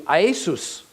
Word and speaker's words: Iesous: However, in Greek, his name translates to Iesus. Iesus. That is, in Greek, it's a 3-syllable word, Iesus.